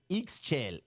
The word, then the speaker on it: Ixchel: Ixchel.